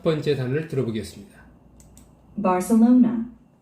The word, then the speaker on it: Barcelona: Barcelona, Barcelona, Barcelona, Barcelona. 여러분들은 어떻게 들으셨습니까? 우리 한국인들은 이 단어를 바르셀로나라고 발음합니다. 바르셀로나. 그런데 원어민들, 네이티브인들은 발세로나라고 발음하죠? Barcelona, Barcelona, 삼음절에 스트레스가 옵니다.